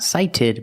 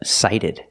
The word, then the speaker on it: sighted: Ed and you have cited the t is a fast D not cited but cited example nearsighted nearsighted versus